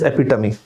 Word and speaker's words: epitome: not epitome it is epitome the pronunciation of this word is not epitome it is epitome guys and the last